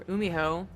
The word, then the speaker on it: GuMiho: But GuMiho, or Umiho, the G is silent, it's going for a double drop.